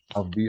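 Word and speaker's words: ALPHV: Alpha V.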